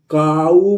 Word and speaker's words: cow: इसी तरह COW को हम को नहीं पढ़ेंगे दोस्तों, काऊ पढ़ेंगे।